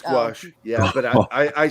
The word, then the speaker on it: gouache: I was saying, what was I saying? Gouache, and they're like, no, it's gouache, honey. I'm like, gouache.